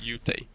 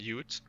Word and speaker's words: Ute: Because apparently it's not Ute, it's Ute. Okay, so that's the part I'm getting wrong.